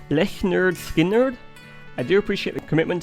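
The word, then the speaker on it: Lynyrd Skynyrd: Leonard Skinner's 1983 album pronounced le nerd sker.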